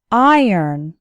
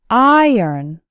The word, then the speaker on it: iron: actually sounds like n iron iron has two syllables and the stress is on the first syllable so it sounds like iron say it after me